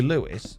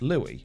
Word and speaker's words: Louis: be spelt lewis but pronounced louis as in the french way of saying it now if someone calls you lewis but your name is louis you know that it's pronounced louie right so you go